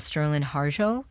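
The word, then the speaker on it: Sterlin Harjo: so great what was it like talking with sterland harjo is that how you say his name yes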